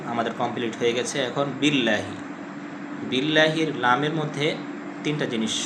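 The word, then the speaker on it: بالله: আর দ্বিতীয় নাম্বার ভুল হলো আমরা বিল্লাহি। আউজুবিল্লাহি। মোটা করে পড়ি। আউজুবিল্লাহ বলা যাবে না। আউজুবিল্লাহ। পাতলা করে পড়তে হবে। লামটাকে মোটা করে পড়া যাবে না। পাতলা করে পড়তে হবে।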